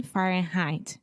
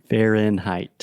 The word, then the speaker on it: Fahrenheit: more for some reason when you say Fahrenheit the first part Fen you have the final in sound so to produce a sound the tip of your tongue is touching the top of your mouth the roof of your mouth and that's how you're closing that sound okay so when you